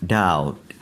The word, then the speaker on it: doubt: Number 10, doubt, doubt. यहाँ पर जो बी है ये साइलेंट है, इसको डाउट नहीं पढ़ना, डाउट, डाउटेड, डाउटेड, डाउटिंग.